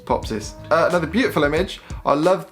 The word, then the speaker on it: Popsys: No one can pronounce my name either. Popsis. It's Popsis.